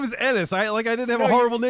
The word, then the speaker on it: Ennis: The Ennis doctor has a was lot from- of bad things I can think of. Ennis rhymes with penis. Ennis, like it's not Enos like everyone like used to say.